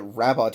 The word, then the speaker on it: Rabot: They even already clarify in at one point that Rabot is pronounced Rabo, so that you don't have to feel like it's That's too true.